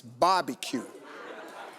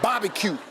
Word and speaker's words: barbecue: This is barbecue. And do not pronounce the A-R. B-O-B-B-Y, Bobby, barbecue.